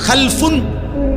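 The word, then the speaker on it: خَلَفٌ: মাঝখানে একটা লাম আছে। এই লামটার মধ্যে যদি সাকিন হয় তাইলে হল খালফুন। আর যদি লামের মধ্যে জবর হয় তাহলে হল খালাফুন।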